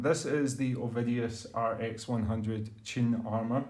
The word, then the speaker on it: Qin: is the ovidius rx100 chin armor i think it's june because you pronounce a q with a c8 sound anyway a chi-fi hybrid